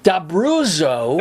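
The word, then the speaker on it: D'Abruzzo: Italian that even though your name is spelled with two Z's in there like pizza yeah you've been pronouncing it every body pronounces it D bruso bro they anglicized it yes they were told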